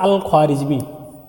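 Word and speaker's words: al-Khwarizmi: एक आता है अल ख्वारमी अल ख्वा अल ख्वारमी खारिज्म की स्पेलिंग होगा के एच डब्ल्यू ए ख्वा री जीमी अल ख्वारमी और एक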